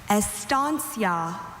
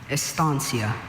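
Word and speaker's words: estancia: Estansia. Are there any alternate pronunciations?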